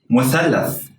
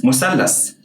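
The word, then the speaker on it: مثلث: Well, that word in standard Arabic is pronounced like muthallath. Muthallath. But in Egyptian Arabic, it's musallas.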